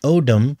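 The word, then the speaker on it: אדם: Now, the word Odem, which sounds like Adam, the Hebrew word Odem, O-E-D-E-M, I believe it's spelled, it means red.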